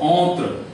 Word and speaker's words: entre: taught you in French, the original sound of R is as if you are gargling, something like this. So it is what? Entre, and then R is R. So if you hear this word, you know, to be pronounced by original French, you will read it like entre.